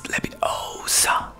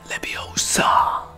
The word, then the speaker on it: Leviosa: It's Leviosa, not Leviosa. You do it then.